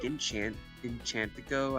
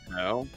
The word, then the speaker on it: Encanto: They can release a great film like Enchantico, I think that's how you say it, was really Encanto? Encanto.